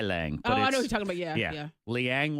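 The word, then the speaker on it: ylang-ylang: looks all weird okay what is this Y Liang y Liang Liang Liang is how it's pronounced and it's flower of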